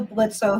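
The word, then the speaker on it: Blitzø: It's the Blitz without the O. Yes, the O is silent.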